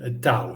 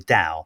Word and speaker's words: Tao: It's pronounced Tao, by the way. Yeah, Tao.